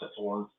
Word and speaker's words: Saturn: It was by Magix, which was a German company, and I think I walked into there's a place called, it's spelled Saturn, but it's pronounced Saturn.